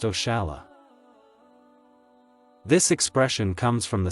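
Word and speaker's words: oxalá: Portuguese language for example the expression oxela which is pronounced oala this expression comes from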